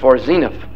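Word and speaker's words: Zeniff: It's Zenith, not Zenith. Okay, we'll say Zenith from now on. Right. That is the Hebrew pronunciation.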